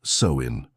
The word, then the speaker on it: Samhain: the Celtic people celebrated a festival called Samhain, pronounced Samhain.